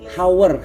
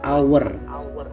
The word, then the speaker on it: hour: Nah ada lagi nih hower our itu gimana ustad karena depannya ha nah ternyata pengucapannya dibaca Hour Hour itu jam-jam artinya dibacanya